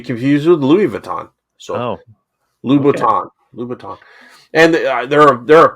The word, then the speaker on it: Louboutin: Christian Louboutin.